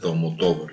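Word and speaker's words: Almodóvar: Maybe not everyone knows Pedro Almodovar or Almodovar, because the punctuation is on the O.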